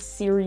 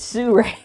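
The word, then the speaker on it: Sirui: be my suray 5c you're saying it wrong not Siri you it's Sue Ray no Leviosa Sue rape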